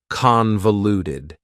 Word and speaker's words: convoluted: Convoluted also has 4 syllables, and the stress is on the first syllable, convoluted. That second syllable again has that schwa sound, that reduced vowel sound. Convoluted, convoluted.